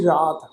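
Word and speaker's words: ਰਾਤੀਂ: फिर शब्द होना सी रात, राती बहुवचन हो गया। बिहारी की मात्रा नाल बिंदी प्रनाउंस करांगे, राती, रुत्ती, रुत्तां दी गल, थित्ती, वार, ये चारे शब्द अलग अलग आ जी।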